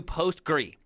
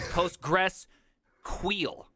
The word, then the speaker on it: PostgreSQL: It is the unpronounceable word because usually it's like PostgreSQL or is it PostgreSQL? Like we don't know. Is it Postgres or Postgre? I'm a Postgres type of gentleman. I say Postgres when I invite people to code with me.